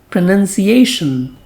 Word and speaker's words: pronunciation: It has N-U-N, so it is spoken as pronunciation.